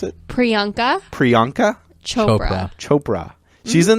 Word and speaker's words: Priyanka: I can't pronounce her name how do you pronounce it Priyanka Priyanka Chopra Chopra she's in the show called